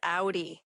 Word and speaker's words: Aury: Okay, my name is pronounced Audi. And I always tell them like the car, but it spells differently.